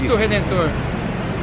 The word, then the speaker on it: Cristo Redentor: How do you say it in Portuguese? Cristo Redentor.